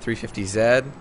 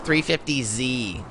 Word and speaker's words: 350Z: That was a 350Z. No, you know, you're pronouncing it wrong. It's a 350Z. Well, it's Japanese, and the Japanese don't pronounce it Z, so zing.